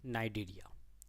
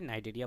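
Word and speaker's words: Cnidaria: ये है नाइडेरिया, ठीक है, सी साइलेंट है, नाइडेरिया पढ़ते हैं, ये भी इक्वेटिक है।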